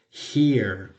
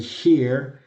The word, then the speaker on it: here: Por eso decimos here para aquí. ¿Cierto? Si ustedes hacen la pronunciación de Júpiter en español y here, van a ver que las dos palabras inician con el mismo fonema.